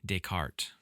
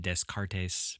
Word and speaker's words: Descartes: his name was Renee Deart Okay. Um, you can Google that. Um, people from my area would probably pronounce it descartes, but uh, you know, that's incorrect. He was French, Renee Deart, and he is the